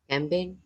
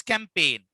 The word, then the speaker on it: campaign: Campaign. Sorry. Yes, campaign. G is silent.